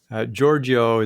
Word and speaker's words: Georghiou: Georghiou is what I say, although that's not quite the correct spelling, but I say it that way, a pronunciation, to make it easy for people.